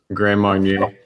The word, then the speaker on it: Grand Marnier: Grand Marnier.